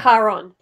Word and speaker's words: Charon: He jumps to the boat, and Sharon, how did you pronounce it? Oh, Charon.